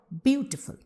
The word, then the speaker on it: beautiful: So we are stressing on beautiful and we are pronouncing with the stress on the first syllable.